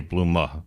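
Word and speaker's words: Blume: They always say Blumma because the E at the end I said so same thing.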